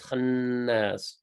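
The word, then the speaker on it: الخناس: The nun on the khannas gets held a little bit longer. So not khannas, it's khannas.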